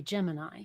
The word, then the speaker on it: Gemini: then there was okay is it chimney or is it Gemini um well it's clearly Gemini and you had uh